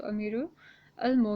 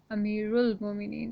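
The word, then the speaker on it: أمير المؤمنين: it or the tashteed on it okay so amiru al-mo meaning is not the correct pronunciation but amiral bominine is the correct pronunciation next we have asabu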